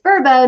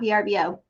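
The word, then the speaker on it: Vrbo: learned from a commercial I've been pronouncing it wrong this whole time it's verbo not vbo but I'm going to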